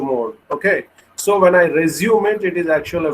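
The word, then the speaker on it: résumé: And in fact, it needs to be pronounced as resume. Both the accent marks will give you a typical pronunciation of a sound to the word, which is different from resume.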